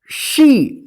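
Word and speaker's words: she: जैसे आप देखिए एस एच ई, इसको क्या पढ़ेंगे? शी। देखिए यहां पे कोई दूसरा वोवेल नहीं ना है, ना कोई दूसरा अक्षर है, एस एच ई, लास्ट में ई है, ठीक है।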